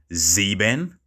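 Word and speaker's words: sieben: but i have seven which is z ben zeben act 11 is elf elf then twelve is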